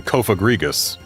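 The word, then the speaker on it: Cofagrigus: Yeah, there's a reason that when I'm pronouncing Kofa Grigus, I make sure to have a syllable break between the kofa and the grigus.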